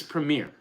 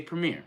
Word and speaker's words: premiere: in in the comments it's Premiere we're in Jersey now you live in Jersey say Premiere it's not we're not playing Premier I can't even say